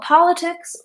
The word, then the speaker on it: politics: tell me why the last T is not pronounced like a flap T it's between vowels and it doesn't have stress so politics there you're right when T is between two